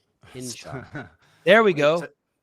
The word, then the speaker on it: Hinshaw: Don't mispronounce it. Henshaw. Hinshaw.